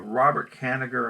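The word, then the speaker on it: Robert Kanigher: I can't remember where I read it but Robert Canada and that's how you pronounce his name the creator of the writer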